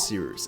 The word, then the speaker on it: Cyrus: fine My name is Cyrus. It’s spelled like “Cyrus,” pronounced like “See Rooster,” just take out the “ter” Thank you very much for watching and have a wonderful day!